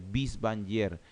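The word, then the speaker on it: Binswanger: Y esa demencia multiinfarto tienen el nombre de la enfermedad de Bies-Wanger.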